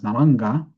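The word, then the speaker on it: नारङ्ग: pronounced, I believe, as Naranga, which stands for orange tree. Now, we also know that in naranja sounds very similar to naranja in Spanish, which means orange, both the color and the fruit.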